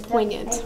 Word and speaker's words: poignant: You would never guess that you would say poignant. Like, it's dumb spelling. Yeah, it's got a silent letter and it makes you have to look at it twice, right?